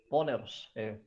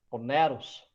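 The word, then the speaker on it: πονηρός: Esse termo ele vem do grego e se pronuncia poneros, poneros.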